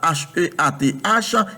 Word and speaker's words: Heath: H-E-A-T-H, Heath, H-E-A-T-H, parce que moi, je connais, la E-A se prononce comme I en anglais, et puis T-H prononce comme on met la langue entre les deux.